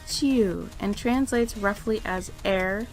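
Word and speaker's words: 宙: This kanji is pronounced Chiu and translates roughly as air, space, or sky.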